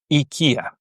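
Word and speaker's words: οικία: IKEA. IKEA. So you see you cannot separate the two E's just from listening to them. There is no difference in pronunciation.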